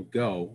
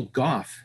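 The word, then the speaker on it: Gough: should also mention um i know people for years have pronounced this actor's name michael go the alfred from batman from there from the tim burton batman movies i listened to joel schumacher's audio commentary i think on batman and robin or batman forever for whatever reason i was desperate for content and he kept referring to him as michael goff have you ever heard that pronunciation that's correct like like cough yeah i it's i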